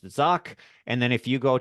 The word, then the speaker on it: Zach: So you can find me on LinkedIn and Facebook if you just search Zock, and it's Zach. It kind of sounds like Zach, but it's pronounced Zock.